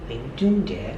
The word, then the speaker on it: 林俊杰: Lin Junjie. Oh yeah, your pronunciation is very good.